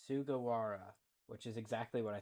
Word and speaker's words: Sugawara: It's Sugawara, which is exactly what I thought. Sugawara.